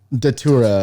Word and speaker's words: Datura: Datura is how you say it.